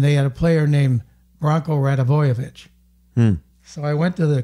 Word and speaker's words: Branko Radivojevic: He said, Branko Radivojevic.